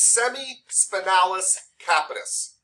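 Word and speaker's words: semispinalis capitis: spinalis yeah oh capitalism no no you said it right it's semi-spinalis capitus okay boom great and then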